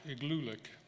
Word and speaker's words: Igloolik: Igloolik, the first part of that word is spelled igloo, and you all know that means a house or a snow house. And Igloolik just means a place of many houses.